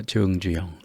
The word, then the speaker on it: 정주영: 그래서 정주영 이게 아니라 정주영 이렇게 읽어줘야만 하겠습니다.